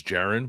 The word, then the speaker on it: Jaron: assumed that you say his first name is Jaron, but is that correct or is that wrong?